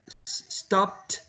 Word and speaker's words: stopped: So the past tense, it should sound like a t.